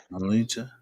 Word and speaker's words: Lolita: Loletta. There we go. My bad. Lolita.